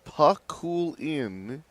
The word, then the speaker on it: Pakulin: Matt Pakulin, the Filipino, tells me it's pronounced Pakulin. And Paul has been saying on the PA Paculon, but Matt told her that that's usually how it's pronounced.